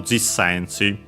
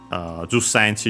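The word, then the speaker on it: 十センチ: Jus sensi usually with the ju is the pronunciation more common nowadays. G technically would be an older one, maybe also more formal technically, or at the very least more old-fashioned technically.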